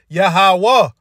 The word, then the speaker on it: Yahawah: without the vow points it's pronounced yahawah just take away the vow points all right when you look at it simply without the vow points in the Assyrian script is yahawah all right because our